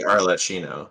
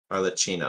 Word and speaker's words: Arlecchino: Should be Arlecchino. Oh, should be You say Arlecchino. Arlecchino, like a chino, like it's Italian. It's Italian, right? Oh, Arlecchino. I always say Arlecchino.